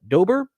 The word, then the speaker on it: Dobre: we are visiting with Charlotte Dober I believe is how her last name is pronounced she is quite popular